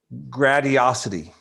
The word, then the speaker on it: Gradiosity: Gradiosity. Oh, excellent. It's like gratis grati dash osity.